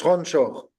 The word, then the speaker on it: Ranchor: des noms de Krishna c'est ranchor est-ce que vous connaissez ce nom aussi on le prononce ronchor non ça veut dire